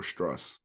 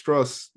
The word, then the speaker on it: Strus: is have you heard of Max streu or struss yeah yeah P used Miami Max struss is more clutch than Curry hear me up